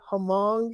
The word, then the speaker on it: Hmong: years ago like taking an American citizen aged Hmong, if you pronounce it correctly, Asian American grandfather and pushing